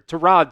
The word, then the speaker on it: Tyrod: And Tyrod Taylor or Terod Taylor as Billy likes to call him here. I guess that's really how you pronounce his name there.